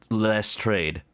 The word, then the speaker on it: Lestrade: It uses re in both the beginning and the middle, so it's less trade.